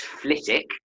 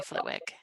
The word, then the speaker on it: Flitwick: Flitwick what's a very English thing so it's flit ik you don't pronounce the double wing political assembly way to